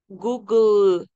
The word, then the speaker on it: Google: dos o una o la e al final no se pronuncia entonces por eso Google porque no se pronuncia la bueno entonces esa tiene